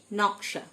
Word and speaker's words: gnaw: Design মানে নকশা। Resign, RESIGN, জি silent. Resign মানে পদত্যাগ করা। ন, GNAW, প্রথম ফার্স্ট লেটারটা জি, প্রথম অক্ষরটা সাইলেন্ট।